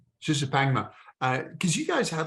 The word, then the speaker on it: Shishapangma: It has to be, because your first one, it was Shishapanga. Is that the correct pronunciation? Shishapangma. Shishapangma.